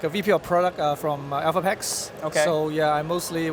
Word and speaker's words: Elphapex: Is it Elphapex or Alphapex? Elphapex.